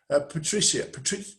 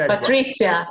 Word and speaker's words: Patrizia: Patricia, how do you pronounce that? I like the Z. Patrizia, it's Italian name.